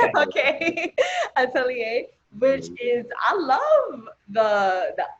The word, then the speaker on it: atelier: um last year you dropped i'm probably pronouncing atelier no you are that's right okay atelier which is i love the the project cover